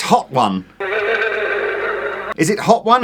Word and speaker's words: Hotone: Strictly speaking, it's pronounced... Well, it's... Hotone. It's Hot One.